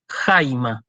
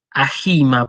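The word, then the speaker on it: αἷμα: se lee jaime y fíjense que el espíritu está escrito arriba de la gota pero sin embargo yo lo pronunció como si estuviera antes de la alfa si yo no digo a gilma por ejemplo digo jaime porque porque éste porque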